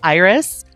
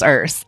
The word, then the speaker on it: Urs: And when Urs comes in here, I automatically read their name as Iris, but they've told me it's Urs. I know it's Urs.